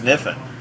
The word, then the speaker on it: Kniffin: sure it's Kniffin I'm pretty sure it's not Caniff and I'm pretty good with English son I've always imagined it as Mifflin the K is silent before you get into